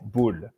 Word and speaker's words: Boule: that restaurant is called Camp Boule, CAMP, like a camp, and then See.